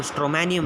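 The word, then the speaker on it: Stramonium: दूसरा कौन सा एग्जांपल अपन ने लिया था, सिंकोना, या स्ट्रोमैनियम नहीं है, वो स्ट्रैमोनियम है। That is नॉट स्ट्रोमैनियम, that is स्ट्रैमोनियम। अगर आप अच्छे से अच्छे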